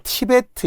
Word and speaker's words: 티베트: 근데 스태프라인 아까 플루트 또 티베트 있잖아요 이걸 티벳이 하면 안 돼요 플루 안 돼요 티벳 고원 안 돼요 플루트 티베트 이렇게 발음을 생각하면서 외우시고 또는 브드 그 계열을